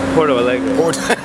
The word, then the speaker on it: Porto Alegre: Porto Alegre? Porto Alegre.